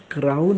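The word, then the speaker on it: crown: क्राऊन विचार लक्षात ठेवा काही लोक क्रोन करतात क्रोन बिलकुल होणार नाही क्रोन करायचं झालं तर ते सी आर ओ एन अशी स्पेलिंग असायला हवी होती पण ही सी आर ओ डब्ल्यू एन क्राऊन क्राऊन म्हणजे मुकुट म्हणतो ना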